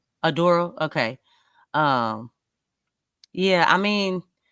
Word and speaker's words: Oduro: okay, I thought Josh yeah, Oduro. Adoro.